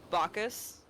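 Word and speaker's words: Bacchus: How is it pronounced? Huh? Bacus.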